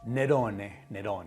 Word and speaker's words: Nerone: Nerone, let's say it like the Italians.